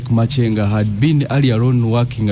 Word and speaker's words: Makenga: It's called Machenga. I think that's how they pronounce it. Or Makanga. I don't know. Just in Uganda and Rwanda. Yeah. in Uganda we could say Makanga, but you're saying it should be Machenga. But even in Uganda it can't be Makanga because it's Makenga. My understanding of Uganda can't be Makanga. It's Makenga.